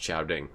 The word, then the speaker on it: Samhain: pictures with our telephones Samhain is pronounced shouting can't fire ground I